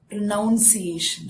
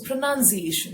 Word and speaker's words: pronunciation: to this word pronunciation some people pronounce it as pronunciation that is wrong so pronunciation so see the way i'm stressing i'm giving importance to